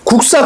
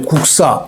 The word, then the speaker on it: 국사: 그럼 구두방하고 예사소리가 빵 기역하고 시옷다 빵 부딪히면 국사 이렇게 발음 나잖아요. 뒤에가 예사소리가 된소리 쌍시옷으로 발음 나죠.